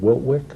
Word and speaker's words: Wiltwyck: I want to make sure I pronounce it right, is it Wiltwyck? The reform school? Yes. Yes.